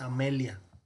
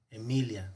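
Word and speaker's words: Aemilia: la primera escena es este diptongo es a y entonces nunca se va a pronunciar como si no entonces cuidado no es amelia es a mí ya emilia cuidado porque hay de pronto si hay mucha confusión no es amelia es emilia tenemos julius o julio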